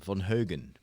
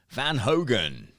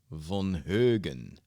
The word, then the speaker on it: Von Heugen: Sounds like the Swedish letter Ö. Yeah, like in my name, Von Heugen. It's the same sound, actually. My last name in Dutch is Von Heugen. And it always gets butchered up when I go to the US. Van Hogen. Van Hogen. No, Von Heugen.